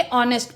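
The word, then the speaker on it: honest: है उसी तरह य एच को ना पढ़ के ऑनेस्ट पढ़ते हैं तो यहां पे हमारा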